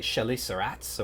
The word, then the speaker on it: chelicerates: he's investigating the evolution of, how do we pronounce this? Is it French, like chelicerates, or is it chelicerates, or how do we pronounce that?